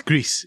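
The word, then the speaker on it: Gris: First one is called Greece. It's Greece in the end. Uh I I checked the pronunciation online.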